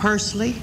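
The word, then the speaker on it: Pursley: to what was the little community near corsican persley spell it pu r SLE y all right that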